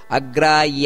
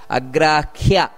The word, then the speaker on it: ಅಗ್ರಾಹ್ಯ: ಉಚ್ಚಾರಣೆಯಲ್ಲಿ ಗಮನಿಸಬೇಕಾದದ್ದು ಏನು ಅಂದ್ರೆ ಕೆಲವರು ಅಗ್ರಾಯ ಅಂತ ಹೇಳ್ತಾರೆ ಅಗ್ರಾಯ ಶಾಶ್ವತ ಕೃಷ್ಣೋ ಇದು ತಪ್ಪು ಅಗ್ರಾಯ ಅಲ್ಲ ಅಗ್ರ್ಯ ಖ್ಯಾ ಖ್ಯಾ ಅಂದ್ರೆ ಹಕಾರ ಬರಬೇಕು ಅಲ್ಲಿ ಇದನ್ನ ಗಮನಿಸಬೇಕು ಅಗ್ರಾಖ್ಯ ಶಾಶ್ವತಃ ಕೃಷ್ಣ ನೋಡಿ ಕೃಷ್ಣ